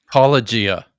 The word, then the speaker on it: Paulogia: I'm going to butcher the pronunciation. Is it Paulogia or Apologia? It's Paulogia.